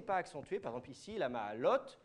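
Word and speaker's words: לַמַּעֲלוֹת: Par exemple, ici, la ma'alot, la ma'alot, oui, mais le la, il n'est pas accentué, mais il ne faut quand même pas aller trop vite.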